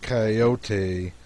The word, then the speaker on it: Cayote: remember rightly this latter was a regular coyote pronounced coyote of the farther deserts and if it was